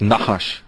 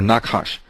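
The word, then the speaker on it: נחש: from the Hebrew because the word for serpent doesn't have any vowels but it's sort of pronounced like na hush or knock hush Nakash and HSH that term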